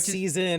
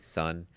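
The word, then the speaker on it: SSSN: him on Sun's team, which is pronounced because I've I've seen this this question go by lots of times. Say the team's name. Sun. Team Sun. Yeah. It's not season.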